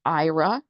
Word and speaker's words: Aira: looking at the slides, IRA is spelled AIRA.